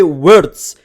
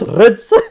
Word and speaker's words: Wirtz: Wirtz. His name is Wirtz. You guys have taught me that. It's not Ritz. I always call him Ritz, but it's Wirtz, right?